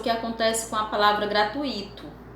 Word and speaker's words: gratuito: acontece com a palavra gratuito muitas pessoas tendem a pronunciar acentuando um possível e ato gratuito mas na escrita formal é preciso perceber que esse ato não existe então o que foi